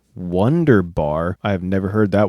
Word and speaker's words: wunderbar: In English, people usually say Wunderbar. In German, it's Wunderbar.